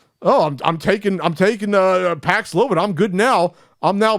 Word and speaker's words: Paxlovid: But the marketing department that was probably doing high fives when they said, hey, Paxlovid, it rhymes with COVID.